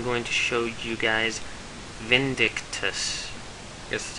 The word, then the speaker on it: Vindictus: here and i'm going to show you guys vindictus this is how you say it um it's